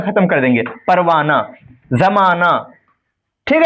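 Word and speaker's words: پروانہ: क्योंकि हा लिखा जाता है लेकिन पढ़ा नहीं जाता। छुप जाता है पढ़े पढ़ते वक्त। इसलिए इसको हाय मुख्तफी कहते हैं। जो हा तलफुज़ में नहीं आती है बल्कि माकबल की हरकत को जाहिर करती है। जैसे परवाना जमाना वगैरह।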